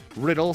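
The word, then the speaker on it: Rydle: Republic character name was riddle spelled ry d le the dice spell DME th is SP I believe but you're supposed to pronounce it riddle me this because Batman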